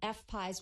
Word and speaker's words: FPIES: If you want to check out the GoFundMe page, just so people know, Micah is spelled M-I-C-A-H, and it's FPIES, which is F-P-I-E-S, like pie, like apple pie.